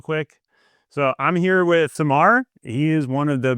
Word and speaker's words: Cemar: It's not Seamar, it is Samar.